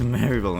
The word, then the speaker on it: Maribel: Mary Berry, and in Japanese it's pronounced like Maeri Berry, and it's really weird. No, I think in English it's actually pronounced like Maribel. Yeah, it's Maribel in English, and in Japanese it's Maeri Berry.